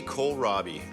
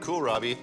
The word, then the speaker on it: kohlrabi: this is crazy Co Robbie and if you mispronounce it and call it cool Robbie I won't be offended